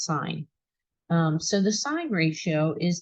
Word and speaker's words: sine: sine abbreviated this way it looks like sin but it's pronounced sine so the sine ratio